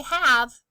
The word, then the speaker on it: have: Say have. Have has 2 hearts. The E is silent at the end, but the A makes the A sound.